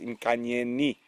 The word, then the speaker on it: Inkanyeni: So it is with the I. I have been incorrect. I do apologize. It is Inkanyeni. I made exactly the same mistake that Brent did, and James shouted at me.